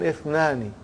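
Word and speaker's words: اثنان: What do you see in the Hamza? Is it Hamzatul Qata or Hamzatul Wasal? It is Hamzatul Wasal. We have to take note of it. That Ithnani, the Hamza is Hamzatul Wasal. If it comes in the beginning, it is pronounced. If it doesn't come in the beginning, then it is assimilated.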